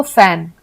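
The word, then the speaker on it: phone: ओ एन ई तो ये भी फ का ही उच्चारण आता है फोन को हम एफ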